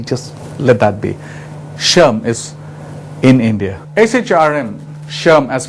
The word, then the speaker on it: SHRM: what is acharam incidentally we call it uh phonetically as an ash erm but the e just let that be shum is in india shrm as we call it